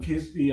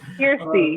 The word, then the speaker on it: Kirstie: Now, Kirstie, and I butchered your name like 4 times. Please. No, you actually said it good. You said it perfectly. Okay. Kirstie, you said it right.